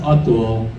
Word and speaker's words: Atul: my name is Atul and uh it's pronounced Atul but people like to make fun of it